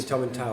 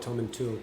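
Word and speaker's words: Tomintoul: And you learned how to say Tom and Tal as well. I did learn how to say Tom and Tal, not Tom and Tool.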